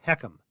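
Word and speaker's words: HECM: reverse mortgage loan is called a home equity conversion mortgage hm or heum is how it's worded or how we pronounce it so on hecams there's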